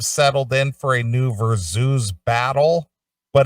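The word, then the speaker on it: Verzuz: music fans have settled in for a new versus i don't even know what that is v-e-r-z-u-z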